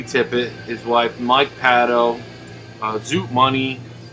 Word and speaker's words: Zoot Money: his wife, Mike Paddo, Zoot Money, that's how you say it, Mooney Money, and yeah, Keith Tippett, of course.